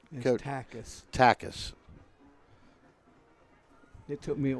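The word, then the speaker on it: Takac: He'll go to the 42-yard, and number 13, Noah Takak is that pronounced correct, Coach? Takis. Takis. It took me a while, too. Takis, T-A-K-A-C. I know, but it's Takis.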